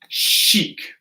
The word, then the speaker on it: chic: This is going to be chic.